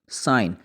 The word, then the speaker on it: sign: इसके लिए ख़ास रूल तो नहीं, लेकिन इतना जान लीजिए कि जब भी जी एन इकट्ठा आ जाए तो जी को हम बहुत दफ़ा प्रोनाउंस नहीं करते। एग्जाम्पल्स हमारे सामने हैं। साइन, SIGN, साइन।